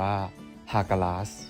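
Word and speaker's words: Hagalaz: ลำดับ ที่ 9 คา หรือ ออก เสียง เป็น สำเนียง ไทย ว่า ฮากาส เป็น รูน ประจำ ตัว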